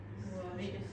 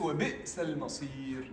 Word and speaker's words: وبئس المصير: We don't have to make قلقلة. It's وبئس المصير.